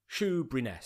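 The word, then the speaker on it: Shoeburyness: Is it Shrewbriness? Is that how you say it? Shrewbriness. Shrewbriness, yeah, Shoe. Shrewbriness. As in the foot covering. Berry, or the pastry.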